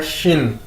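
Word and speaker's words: xīn: Chinese का वो है शिन। आपको पता है कि एक्स को हम चाइनीज़ के अंदर शीन के तौर पर प्रोनाउंस करते हैं, तो इसको हम कैसे बोलेंगे? शिन।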